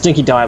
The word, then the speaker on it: Dinky Die: I mean, so also, the dog food's called Dinky Die dog food. Mm-hmm. It's Dinky Die, by the way, just so you get the pronunciation right. It's Die, not D.